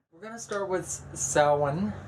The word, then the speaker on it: Samhain: We're going to start with Samhain. It's spelled actually Samhain, S-A-M-H-A-I-N, but it's said as though it's spelled S-O-W-E-N, okay? And some people S-O-W-E-E-N.